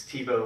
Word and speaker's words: Thibault: But he does pronounce it like our friends to the west. So as Chris says, it's Thibault, like his favorite quarterback over there.